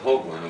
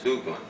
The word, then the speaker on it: Hoagland: the same way and it wasn't hogland it was hland um they changed it